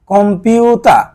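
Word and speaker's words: コンピューター: camera তারপরেরটা যায় কম্পিউতা কম্পিউতা এখানে দেখেন দুইটা টান আছে এর জন্য আগের পিউটা টান হবে তারপরে একটু টান হবে কম্পিউতা কম্পিউতা মানে কম্পিউটার কম্পিউ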